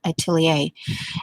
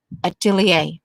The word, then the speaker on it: atelier: the the life of a an apprentice to atelier and then i went over because um i couldn't quite grasp the pronunciation of it the way they were saying